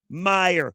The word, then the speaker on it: Meyer: Hire Meyer. So perfect that it rhymes.